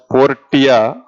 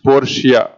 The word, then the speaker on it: Portia: Don't pronounce it as Portia. Okay, it is Portia.